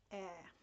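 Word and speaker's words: Ä: A with two dots. pronounced air really strange language.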